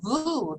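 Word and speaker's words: voooh: And I just learned a new sacred sound syllable besides the ah, like ah, ah, is voo, V-O-O-O-H, but then the H is silent.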